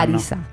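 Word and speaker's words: Harissa: Y se escribe con H, pero los franceses no pronuncian la H nada, no dicen ni un leve. El tema Arisa, de la H no lo llevan. Arisa.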